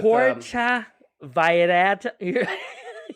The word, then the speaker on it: Puerto Vallarta: You got to say it like just like that. No, it's hard because I worked with... Puerto Vallarta.